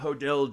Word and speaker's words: Hodel: talking about George Hill hodell Jr uh as posited by his son I like how SP pronounces it Hodel yodel yeah yeah let's call him Hodel uh Steve it's what